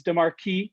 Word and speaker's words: DiMarci: spelling and yeah so apparently i've been pronouncing it wrong my whole life it's de marquis in italian and i am italian